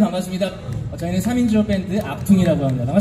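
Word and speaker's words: Achtung: 저게 뭐냐 그랬더니 악퉁이라고 읽는다고.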